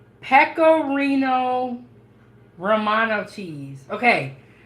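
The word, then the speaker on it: pecorino: I made the spaghetti yep okay okay it's pcoo Romano cheese okay it's spelled p e c o r i n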